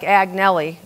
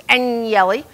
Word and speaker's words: Agnelli: It looks like Agnelli, but it's Agnelli.